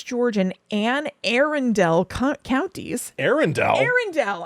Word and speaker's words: Arundel: Arundel? Arundel. I know, it's spelled like Arundel, but still, Prince George.